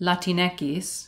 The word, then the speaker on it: Latinx: latinx latinx and then in spanish latineckis because ekis is how you say x in spanish or latinx which okay